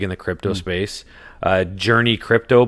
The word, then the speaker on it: JRNY Crypto: the crypto space uh journey crypto but it's spelled jrny crypto he's pretty big or